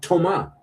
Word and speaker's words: Thomas: It's Toma. You're even missing a letter. That's that's how you pronounce it. You know, you you don't you're not having to do anything clever. Just don't pronounce the S.